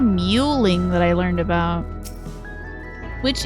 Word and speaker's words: mewing: It's spelled like you would expect. Muing. No, muing. M E W, not mingling.